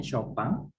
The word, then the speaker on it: Chopin: Cat Chopin, ini bacanya Chopin.